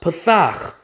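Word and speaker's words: פתח: here in the hebrew that word is pronounced pathak which means what opened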